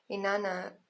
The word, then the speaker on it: Inanna: Inanna, pronounced Inanna, was worshipped by the ancient Sumerians.